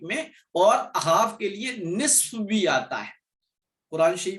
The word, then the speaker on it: نصف: بعض لوگ اس کو غلط تلفظ کر کے نفس کہتے ہیں، نون کے بعد فا پھر صاد کہتے ہیں، حالانکہ یہ غلط ہے. نون کے بعد فا ہے اور صاد لاسٹ میں نصف.